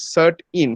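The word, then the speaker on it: CERT-In: indian computer response emergency response team but it's pronounced as cert in c-e-r-t-i-n uh if you go to their website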